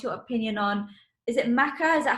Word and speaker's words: maca: So any herb recommendations, and what's your opinion on, is it maca?